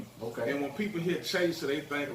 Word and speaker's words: ChaYsuh: So I changed it to CHAYSUH, which actually it's spelled how it's pronounced, ChaYsuh. Yeah, You know what I'm saying? Because I remember I used to talk to him. I used to call you Casher.